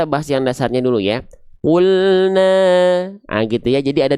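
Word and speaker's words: قُلْنَا: Mad thobii di sini enggak dibaca dua harakat, tapi cukup dibaca satu harakat saja.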